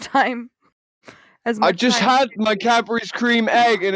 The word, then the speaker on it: Cadbury's: had berries creme egg he actually pronounces it properly we say cadbury cream egg he said cadburys because you actually add on to it which is like actually a proper english cadbury creme egg what happened